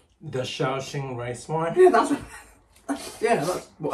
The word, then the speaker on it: Shaoxing: Because one of the things I don't like, and excuse my pronunciation, is the Shaozhou Sheng wine. Did I say it right? The Shaoxing rice wine?